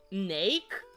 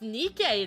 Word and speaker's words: Nike: I've always pronounced it as Nake. Lamau, Nake? It's Nike though.